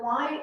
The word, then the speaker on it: y: The Y is like a long E.